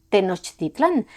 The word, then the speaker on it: Tenochtitlan: ¿De dónde salieron los fundadores de Tenochtitlan? Y sí, también hay quienes prefieren pronunciar Tenochtitlán, pero tampoco vamos a detenernos en los debates léxicos sobre cada palabra, porque no avanzaríamos nada.